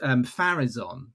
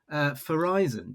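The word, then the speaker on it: Farizon: And I was under the assumption it was called Farazon, but it's Tom. It's you say Verizon, don't you? Verizon, because I said like Horizon. It's just a Horizon with an F on the front.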